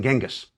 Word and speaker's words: Chinggis: Chinggis, by the way, is the preferred way of pronouncing the great Khan's name by Mongol specialists today. It is a more accurate rendering of his written name than Genghis.